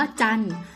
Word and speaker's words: จันทร์: นอ หนู การันต์ มี คำ ว่า จันทร์ อ่าน ว่า จันทร์ มี ตัว ทอ ทะ หาน รอ เรือ การันต์ คำ ว่า มน อ่าน